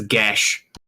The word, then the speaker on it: Geas: the way it's spelt, it looks like Gaius. Yeah. I mean, go to Google and hit the microphone. It says Gesh.